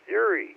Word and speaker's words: Yuri: Yuri Gagarin, something like that. I don't know if I have the pronunciation right. Yes, Yuri.